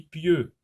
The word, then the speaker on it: pieux: P avec ye, ça se lit pieux.